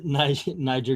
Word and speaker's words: Niger: The Niger River is pronounced Niger, just saying.